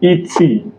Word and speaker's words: et: So whenever you see ET, ET is pronounced as A in English.